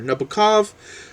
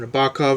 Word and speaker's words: Nabokov: the mode of Vladimir Nabokov, or Nabokov as it's actually pronounced, I don't know why